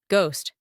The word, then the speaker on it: ghost: game glass grass gun ghost we pronounce it like that when letter G comes with o a l r u a H in that last word as you can see letter H is silent we are still talking